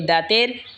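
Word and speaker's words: ض: জিহ্বার agar কিনারা ওপরের মারের দাঁতের গোড়ার সঙ্গে লাগা উচ্চারণ হবে দত।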